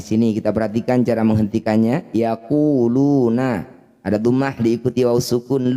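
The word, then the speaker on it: يقولون: Cara bacanya lu, panjangkan 6 harokat, huruf terakhir sukunkan. Yaquluna, saat dihentikan yaqulun.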